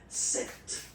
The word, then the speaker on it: sept: Then here, remember, P is not pronounced. Okay, it doesn't exist, so you get this sept sound.